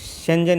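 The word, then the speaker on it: Schengen: मतलब प्रोनाउंस देख लीजिए कैसे करना है इसको, शेंजन एरिया।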